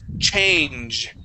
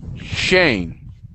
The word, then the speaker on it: change: So, with the ch sound, when we pronounce the ch sound, it's a little bit different, okay, than the sh sound. Okay. Here you're saying sh and you're pushing the air over and it's and it's flowing through. But when we pronounce that sh or sorry the ch, it's a punch of air.